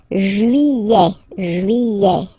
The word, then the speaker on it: juillet: Juillet. Don't pronounce this final T, E-T here at the end.